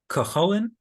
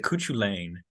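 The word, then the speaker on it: Cú Chulainn: that we'll have that as I learned recently I think and you can all correct me here so I say it correctly tomorrow kolan kolan is that that de's name because I always said kuchu Lan for like the longest time then someone corrected me I was like kin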